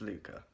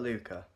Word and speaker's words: Luca: My name is Luca. Not this, this, or even this. But Luca. L-U-C-A.